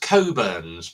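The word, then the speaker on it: Cockburn's: quite a nice Port as well um it's pronounced coburns but on the on the bottle it says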